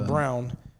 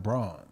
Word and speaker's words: Braun: do you feel the or brown brown it's just Brown it seems pronounced it seemed like Brun you know what I'm saying but it's brown yeah it's brown it's weird